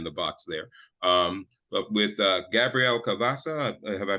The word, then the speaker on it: Gabrielle Cavassa: But with Gabrielle Cavassa, have I pronounced her name correctly?